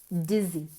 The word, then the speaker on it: dizzy: To feel dizzy. Dizzy, mareado. Cuidado con la pronunciación. Como una abejita. Hay que mover las cuerdas vocales.